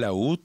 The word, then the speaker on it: Lahoud: 7:16 minutos, vamos a hablar ahora de economía con Daniel Laud. Su apellido se escribe Laud, con H intercalada entre la A y la O, para los medios de comunicación que nos transcriben a esta hora.